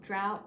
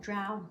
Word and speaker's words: Drouot: Today I have my vintage Louis Vuitton Drouot bag. I think that's how it's pronounced, Drouot, not sure.